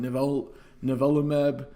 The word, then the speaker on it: nivolumab: nivolumab, I think is the, I'm not, that my pronunciation may be off, but nivolumab.